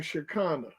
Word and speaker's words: Shekinah: really the word now the word is like how you pronounce that that's like Chicana oh I wasn't too